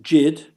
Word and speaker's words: Yid: Whether pronounced Jid, rhyming with did, some have perceived it